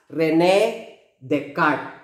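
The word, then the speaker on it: René Descartes: cartnia i'm spelling i but actually this is pronounced as rene descartes i know the net card introduced the rectangular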